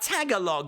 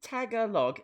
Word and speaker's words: Tagalog: pulled there did we get an answer about Tagalog what's happened to Tagalog let's not let's oh